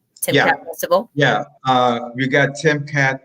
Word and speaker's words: Timkat: Timkat Festival?